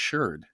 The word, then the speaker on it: sherd: I guess shard you could say is SHARD, like a shard of glass. But in archaeological, in those environments or in that context, it's usually pronounced sherd. Archaeologists always say sherd.